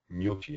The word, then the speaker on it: gnocchi: And then there's this other version for the ny, as in poignant, and lasagna, and gnocchi, I guess, usually in French language.